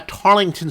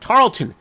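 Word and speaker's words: Tarleton: people made uh comments making fun of my pronunciation anyway if I do say uh tarlington State sorry Tarlton State regardless of how we pronounce it it's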